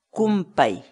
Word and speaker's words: kunpay: de videos en la que te enseñamos a pronunciar algunas palabras en quechua. Así que nuestra palabra del día por hoy es... Kumpai.